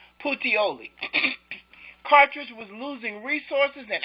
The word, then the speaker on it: Puteoli: cities of Cumae and Patilio, I forgot how to pronounce that. His army was not able to receive reinforcements or supplies. Portioli, that's how you pronounce it. Puteoli.